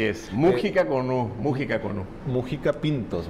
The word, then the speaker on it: Mújica: decíamos ahorita es música con acento en la u porque luego no falta quien diga Mojica Así es Mújica con música con Mujica